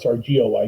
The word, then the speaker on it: Goy: She's writing this along with David Goy, G-O-Y, Goy.